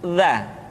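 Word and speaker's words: ذ: Selanjutnya huruf za. Diucapkan dengan menyentuhkan ujung lidah dengan dinding dua gigi seri bagian atas seperti kita mengucapkan huruf tha.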